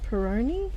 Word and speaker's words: Peroni: So that's the book Glorious Flowers by Laura Peroni.